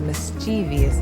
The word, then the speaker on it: mischievous: Now I get the mischieve part, that makes sense to me, but what I don't get is the vious. Where's this extra long E sound coming from after the V? There's no I there, there's no E there. There's no indication that we should be saying that at all.